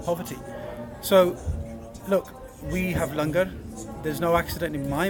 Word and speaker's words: Langar: So, look, we have Langar. There's no accident in my mind that the word hunger rhymes with Langar.